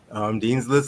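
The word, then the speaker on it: Dean's Lyst: Dean's List, like you're on Dean's List at school, except List is spelled Lyst.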